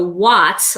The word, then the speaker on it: What's Up: What's Up? So watts, like light bulb watts. Let me see, is it on here? Yeah, you can see how it's spelled, like watts.